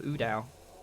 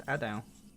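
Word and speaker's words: A'dal: Hand of Udal. Or Adao? How do you pronounce that? Hand of Adao? Oh, it's Adao.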